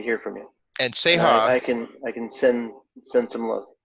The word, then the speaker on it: Ceja: Um, any final words, as far as I'm with Seha, and you can be found on Facebook and Instagram and Instagram.